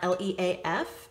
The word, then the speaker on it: Leif: is spelled differently um so it's not l-e-a-f it's his name and it's l-e-i-f l e i f leaf and the f a